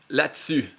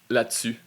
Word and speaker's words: là-dessus: I guess this one if you read it really fast it will lead to là-dessus là-dessus là-dessus là-dessus là-dessus là-dessus là-dessus là-dessus là-dessus. Again, it's a difference of syllable from three syllable two syllable làdessus làdessus pretty much